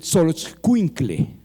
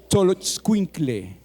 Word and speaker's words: Xoloitzcuintle: bien el nombre, porque es muy difícil de pronunciar, el Xoloitzcuintle. El Xoloitzcuintle.